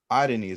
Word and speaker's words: Areni: So Adeni, that's the correct pronunciation.